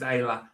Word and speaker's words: Isla: Is pronounced Isla.